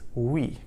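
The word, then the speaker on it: oui: Um, so in French, the word for yes is we.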